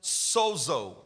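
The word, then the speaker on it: σώζω: from the Greek, from a word that is pronounced sozo.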